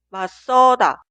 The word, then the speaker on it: 맞서다: Seguimos, 맞서다, 맞서다, 맞서다. La última palabra, 낮잠, 낮잠, 낮잠. Si la sílaba posterior de la consonante final 지읒 inicia